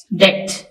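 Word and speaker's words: debt: इसमें H silent है third डेट इसमें बी साइलेंट है ट यानी कर्ज फोर्थ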